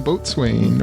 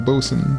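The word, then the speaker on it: boatswain: the the guy at the boat Swain or the boson depending on how you if you believe the way he pronounces it yeah I don't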